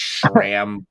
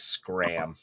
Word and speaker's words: Shram: It's Shram, but the way it's spelled, everyone thought it was Scram.